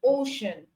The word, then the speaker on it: ocean: And you can have c as in ocean.